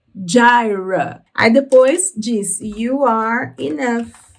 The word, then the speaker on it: Jireh: Só muda aí a pronúncia, então, da palavra. Em inglês se diz Jireh, Jireh.